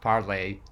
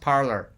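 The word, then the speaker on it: Parler: monopolists took down parlor i know it should be pronounced parley but it's pronounced parlor we live in not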